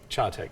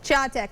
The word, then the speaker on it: Chattanooga: Chattanooga. Chattanooga.